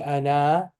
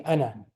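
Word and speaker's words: أنا: be pronounced that means that Al if doesn't exist pronunciation Wise spelling wise it exists pronunciation wise it does not exist so it will not be Ana it'll be Anna Anna just very quick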